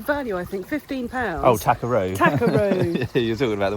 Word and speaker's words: Tackeroo: Oh, Takaroo.